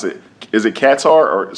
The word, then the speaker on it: Qatar: Is it Qatar or say it Qatar? So I think it's called Qatar. Qatar. Okay. Yeah, but a lot of people say it Qatar. Some people say it Qatar.